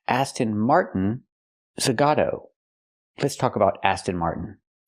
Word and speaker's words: Aston Martin Zagato: It's not pronounced Aston Martin Zagata. It's pronounced Aston Martin Zagato.